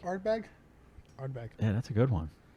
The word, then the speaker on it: Ardbeg: Ardbeg, right? Ardbeg? Ardbeg.